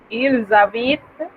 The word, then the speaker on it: il habite: Entonces, con el verbo habite, il habite, elle habite. Un poco difícil pronunciarlo, en realidad ese sonido debería ser una Z, porque tenemos liaison. Il habite, elle habite.